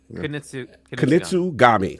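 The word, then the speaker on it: Kunitsu-Gami: I already know how to pronounce it, but actually. Yeah, something Genji. Kunitsu Gami.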